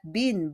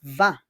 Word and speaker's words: vin: It's not bin, but it's vin. V-E-N. We pronounce it as vin.